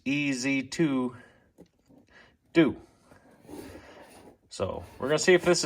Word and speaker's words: EzzDoo: Actually, when I read the instructions, that you're supposed to pronounce it as two Z's. EZ2 do.